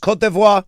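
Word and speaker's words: Côte d'Ivoire: It is pronounced kotvoir. Kotivo. Kavoir, there there are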